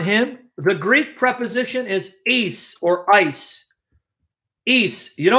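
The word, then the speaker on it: εἰς: The Greek preposition is right there, eis, or if you want to pronounce ice.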